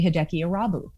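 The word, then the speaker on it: Hideki Irabu: i they were impressed that i could say hideki arabi like how can you say his name and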